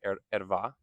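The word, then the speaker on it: ערוה: I've usually heard it said erva. You can correct my pronunciation in the comments. I'm not very good at pronouncing Hebrew.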